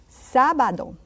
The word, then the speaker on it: sábado: Sábado.